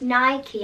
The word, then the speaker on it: Nike: And did you know Nike is actually pronounced Nike after one of the, I think it's Roman gods or Greek gods?